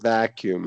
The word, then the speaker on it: vacuum: Interior and let's do make sure uh here you're doing vacuum stress on the first vacuum.